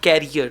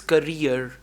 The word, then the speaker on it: career: The word is not carrier, the word is career. CAREER. One is carrier, CARRIER, but this is career.